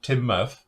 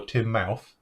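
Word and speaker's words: Teignmouth: Or Timoth that's spelled Timouth. It's Timouth. Well, it's like, that's a Devon thing though, because actually, it's the River Team, and it's actually Timoth or Timmouth, and then Bobby Tracy, which it depends.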